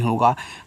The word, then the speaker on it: hug: HUG, इसको पढ़ते हैं हग। जैसे अभी आपने BUT को बट पढ़ा था, बीच में यू था तो इसका उच्चारण आपने नहीं किया, तो यहाँ भी सर नहीं कहना है। तो एच से आप हा बना लो और जी से गा कर लो, ये आपका हग हो गया।